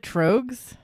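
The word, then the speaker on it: Tröegs: or wait I said I said trogs drugs because there's an umlaut over the o yeah so it's t-r-o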